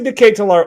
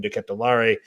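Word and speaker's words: De Ketelaere: for charles de catalar now i say decay to lar only because that's what i heard it from just belgian league highlights and listening to how they were pronouncing it and i did the paramount plus guys are calling him diquet de lare we're going to figure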